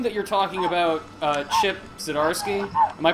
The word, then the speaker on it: Zdarsky: So, Erica, I assume that you're talking about Chip Zdarsky. Am I pronouncing Yes.